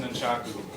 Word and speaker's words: nunchaku: Actually, they are pronounced nunchaku. Nun meaning identical, and chaku meaning basically a stick.